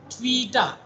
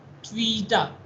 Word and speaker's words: TWTA: TWTA, which is pronounced tweeta, TWEETA, tweeta. You need to pronounce the TWTA, traveling wave tube amplifier, like tweeta.